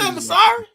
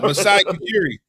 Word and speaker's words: Masai Ujiri: That's it, Masari. No, Masai Ujiri. Masai Ujiri, man. Yeah. You putting the R in his name, but it don't matter.